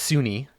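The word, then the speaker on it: Sune: It's actually pronounced Sunni.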